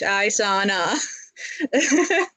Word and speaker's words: Isana: And I'll spell it out like EYE dash SAH dash NAH Isana.